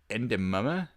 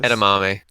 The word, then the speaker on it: edamame: All right, so Japanese food: sushi, soba noodles, udon noodles, ramen, miso soup, uh, endamame, I guess. Edamame.